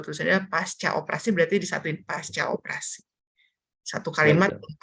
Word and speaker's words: pasca: Oh, boleh cek di Kamus Besar Bahasa Indonesia, bahwa tulisannya pasca operasi berarti disatuin pasca operasi. Satu kalimat Baik, Dok. pakai C. Bacanya juga C.